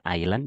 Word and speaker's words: island: Museum of Alice Island ingat ya bacanya Island Jangan dibaca s-nya the museum on Alice